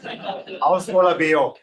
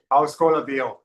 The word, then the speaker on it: Ólafur Ragnar Grímsson: skits staged at some Icelandic name I can't pronounce Ólafur Ragnar Grímsson. Do that again? Ólafur Ragnar Grímsson.